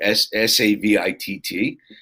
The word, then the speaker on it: Savitt: And on Facebook, I'm at Hey Savitt, Savitt. Okay. The second T is silent.